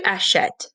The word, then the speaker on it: achètes: Tu achètes, same thing. So the ES is silent, so we need to give it an accent grave.